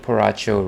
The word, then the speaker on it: Borracho: Good old Porracho rhymes with Sriracha.